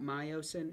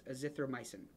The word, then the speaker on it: azithromycin: Clindamycin, vancomycin, azithromycin. Now, I'm going to step on a soapbox here and say, it is not, there's no O in this at the end. It's not myosin, it's azithromycin.